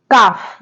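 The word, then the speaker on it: calf: इनके एग्जांपल्स देखते हैं काफ जैसे वर्ड है काफ तो काफ में जो ए है एक वाउल है उसके बाद जो एल आ रहा है वो यहां पर क्या है साइलेंट है नेक्स्ट वर्ड है हाफ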